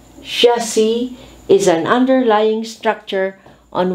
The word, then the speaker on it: chassis: person who talks nonsense chassis french influence drop the s chassis is an underlying structure